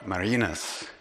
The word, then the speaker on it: Marinus: first teacher marinus hurting now the Dutch pronunciation of that name is Mary Eunice I'm not going to switch back and forth I'm gonna use marinus because it's easier to